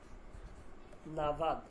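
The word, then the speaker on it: نود: উচ্চারণটা না না এইতো এটা হবে এভাবে নাভাব মানে ভ তবে আপনার বলার সময় ঠোটটা মিলবে না না একটা হালকা বাতাস বের হবে ঠোটটা মিলবে না না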